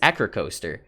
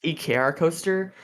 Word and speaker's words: Ekrcoaster: an eager coaster because i always thought it was acrocoaster am i technically pronounced ekr coaster and i've told people